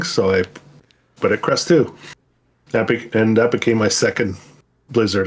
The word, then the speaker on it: Krustoo: So I had Krusty, and I thought, well, Krustoo for number 2, right? So I didn't want to spell it TWO because then people would be reading it as Krustwo, kind of thing. So I put it Krustoo.